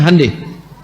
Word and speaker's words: Hyundai: Jepang bikin Honda, mereka bikin hande. Hyundai itu dibacanya hande.